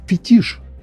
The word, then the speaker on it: фетиш: Слово «фетиш» произносится именно так.